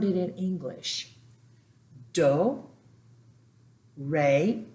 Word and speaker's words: re: Do, re, because the E's are pronounced as a long A.